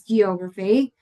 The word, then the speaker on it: geography: This is one that I've also heard very frequently that is geography because sometimes people say it like geography. It's not geography it's geography.